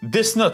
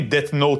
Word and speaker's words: Death Note: Deathn, comme prononcent les Franco-européens. Deathne, comme les puristes et surtout les franco-canadiens vont me dire en commentaire.